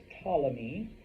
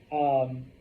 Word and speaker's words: Ptolemy: It's pronounced Ptolemy. Thank you, Greek, for the silent P's in our language. Okay? Ptolemy.